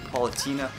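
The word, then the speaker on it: Palutena: Okay, so we got Pit and Paulatina.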